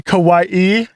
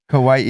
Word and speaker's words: Kauai: sale but why not buy me it's actually kawaii kawaii and I know that but it just sounds